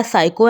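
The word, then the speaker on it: psycho: Example कुछ इस तरह है कि साइको, साइको PSCYCHO, इस तरह साइको है तो यहाँ पर लेकिन P से स्टार्ट है, लेकिन इसमें हम साइको पढ़ेंगे, P नहीं पढ़ेंगे।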